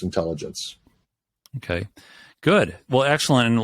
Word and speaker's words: Intellagents: And it's Intellagents, pronounced intelligence.